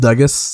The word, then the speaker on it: Dugis: My name is pronounced Dugis, like Douglas, but without the L, and I talk about basketball.